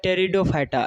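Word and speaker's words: Pteridophyta: पहला है थैलोफाइटा, दूसरा है ब्रायोफाइटा और तीसरा है टेरिडोफाइटा। ये पी साइलेंट रहता है यहाँ पर।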